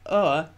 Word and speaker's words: o'er: The apostrophe shows that it should be pronounced as one syllable, o'er, rather than two syllables, over, with the V sound.